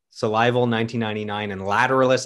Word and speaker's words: Lateralus: salival survival 1999 and lateralis i can actually say 2001 lateralis tool never makes it easy they don't they don't make lateral they don't lateralise that's again that's the way maynard says it so he wrote the